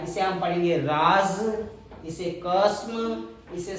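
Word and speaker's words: राज़: पर हम लोगों को ज्ञान के अभाव में वो लोग इसे राज पढ़ते हैं, इसे कसम पढ़ते हैं, इसे सजा पढ़ते हैं, इसे गज पढ़ते हैं, इसे तेज पढ़ते हैं। जबकि इनका सबका उच्चारण इन शब्दों से अलग होता है क्योंकि इनके नुक्ता लगा हुआ है।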